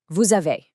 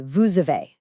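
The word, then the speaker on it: vous avez: Normally that s in vu is totally silent. But because the next word a starts with the vowel uh that silent suddenly wakes up. It jumps over and links to the uh and it makes a z sound. So you don't say vu a. You say vuve.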